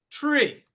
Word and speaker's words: tree: okay how about this this word looks similar but it sounds different three tree okay A a tree